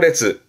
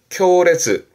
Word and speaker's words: 烈: 강렬한 발음은 레즈 레즈 그리고 앞에 글자가 맹자입니다.